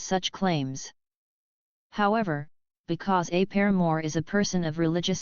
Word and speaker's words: Paramore: soundtrack The Noun Paramore same pronunciation as the band name Paramore evolved from the French